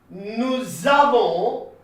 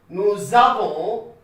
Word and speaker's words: nous avons: J'ai, tu as, il a, elle a, nous avons, this S is silent, okay, nous avons, vous avez, ils ont, elles ont.